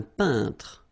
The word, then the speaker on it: peintre: So remember when you get this E-I-N together here, then you pronounce this un sound. So nasal in your nose, un peintre. All right, and remember, final here is not pronounced. It only gives you the possibility to pronounce these two letters. So tr, tr, okay, un peintre.